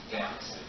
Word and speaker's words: Danyse: Sounds like fantasy, but it's pronounced Danyse, right?